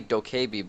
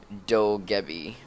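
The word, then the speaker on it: Dokkaebi: It's like, you think it'd be Dokebi, but, like, I do some, Korean, and I know that, like, for the vowel pronunciation stuff, it's like, Dogebi, because, like, the 2 Ks make a B, and whatever, yeah.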